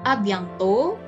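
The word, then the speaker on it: à bientôt: ada abiang to Hai Jadi huruf konsonan di akhir tidak dibunyikan ya karena ini airnya juga enggak bunyi yang ini juga sama Jadi dibacanya adalah abdyanto yo yah kemudian atuh tahlil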